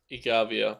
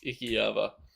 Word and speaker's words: Ikiava: I don't know if I keep mispronouncing that name as Igavia. It's not. I know it. It's Ikiava.